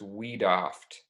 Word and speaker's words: Wiedoeft: And you spell that Rudy, Rudy, but then Wiedoff is spelled Wiedoeft. That's like, so it's Wiedoft, Wiedoeft.